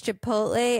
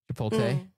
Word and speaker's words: Chipotle: Partly because I had a friend who used to just switch the L and the T. Chipotle.